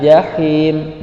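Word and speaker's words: الجحيم: La taraun al jahim. Jahim ada huruf H, maka ketika dibaca suaranya tipis. Jahim, jangan jahim. Nah, hati-hati tertukar. Jahim dengan jahim itu beda. La tarawunnal jahim.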